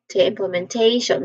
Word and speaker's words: implementation: So we emphasize on t the one with tip thong. So we say it as implementation.